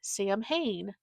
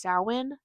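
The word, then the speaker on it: Samhain: and say, "Oh, that looks like you would pronounce it Sam Hayne." And it's not. It's pronounced sin.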